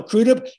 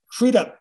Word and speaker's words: Crudup: No, Crudup, Crudup, Crudup.